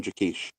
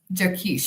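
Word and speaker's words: Jaquish: How do you say his name? Um, Dr. John Jakish. Jakkesh.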